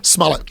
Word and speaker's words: Smollett: He trying to do them fucking $5 footlongs with Smollett or Smoletta. How do you say his I can't name? say his name. Smollett.